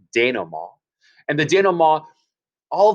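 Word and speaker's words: dénouement: diagram is our denom it's a french word notice we don't pronounce the t at the end denom and the daniel maw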